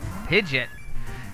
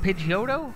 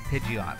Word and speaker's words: Pidgeot: pidgeot see it's weird is it pidgeotto or is it pidgeot the longest time i've said pidgeotto but i think the real pronunciation of it is pidgin what are not pidgeotto pidgey ott oh my god reading pidgeot is what i've been saying for like i should not be